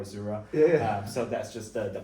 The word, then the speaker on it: Azure: I mean, there are different pronunciation, but I call it Azure.